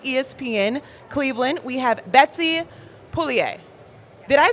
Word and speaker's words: Pugliese: And then down the line, also with ESPN Cleveland, we have Betsy Pugliese. Did I say it right? Pugliese, but Pugliese, very close. like bolognese, like but bolognese, Pugliese.